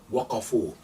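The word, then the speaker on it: وقفوا: So waw and alif, by convention, you do not pronounce that alif. So waqafa, waqafa, waqafu.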